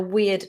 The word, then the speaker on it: weird: Just think about a long E sound. We, like we, you and I. We, and then a schwa, d. Weird. Weird.